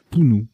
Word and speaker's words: punu: Punt et Pounou ou Punu, je ne sais plus comment ça se prononce celui-ci. Pounou, voilà.